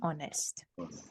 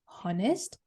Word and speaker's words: honest: If you've been pronouncing this as hour and honest, we don't pronounce it that way. We're going to keep the H silent.